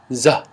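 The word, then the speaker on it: ز: them are very beautiful the next letter is like in zebra za za as in zebra then we have the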